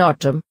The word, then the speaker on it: autumn: In autumn, N is silent.